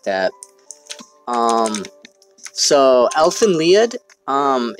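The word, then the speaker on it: Lied: way is one like that um so elephant lead um it's spelled live but it's german so it's um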